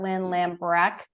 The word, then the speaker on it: Lambrecht: retirement today we have Lynn lambrecht we pronounce the T at the end I'm told so I